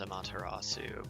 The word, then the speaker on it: Amaterasu: It kind of reminds me of Amaterasu from, or I guess the proper pronunciation is Amaterasu, but yeah, from Okami.